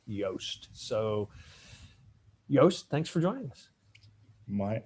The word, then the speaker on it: Joost: As some people can see in your screen, Yoast is spelled Joost, yet the company is spelled Yoast.